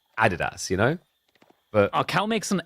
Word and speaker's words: Adidas: So it's the Americans that are wrong cuz it's das. It's like it's the most German way you could pronounce Adidas.